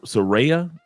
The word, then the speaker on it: Suereyya: yes all right and the proper pronunciation of your first name is uh s seraa you got to roll see my wife see